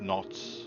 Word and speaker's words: knots: half don't uh notes nuts of wind adults not I'm trying to say it right knots but I always say nuts so I don't know